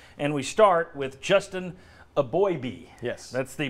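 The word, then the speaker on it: Eboigbe: the red side and we start with Justin a boy B yes that's the pronunciation I love the fact that these guys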